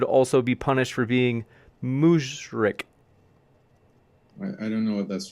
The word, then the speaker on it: mushrik: punished for being, let me know if I pronounce this right, Mushrik?